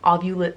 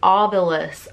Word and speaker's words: Ovilus: ghost shop calm the I think I said it wrong I'll Beulah Ovilus Ovilus my friend thought that